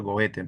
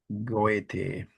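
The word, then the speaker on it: Goethe: Berter, es el señor Goete. Por si acaso, de repente te has olvidado. Goet. Goete. Gocha, goa, goa, algo así se pronuncia en alemán.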